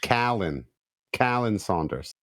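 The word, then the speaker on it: Khaleel Saunders: It says K-A-H, Callan Saunders. And his last name is Saunders because it's S-A-U, so it's Saunders. So Callan Saunders.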